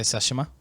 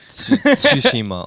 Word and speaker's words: Tsushima: thank you for that were you gonna say sashima i was gonna start with a tea and just hope for the best yes tsushima or something um so